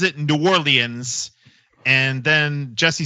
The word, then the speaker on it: New Orleans: New Orleans. That's how you say it down there. New Orleans. A It's all one word down there.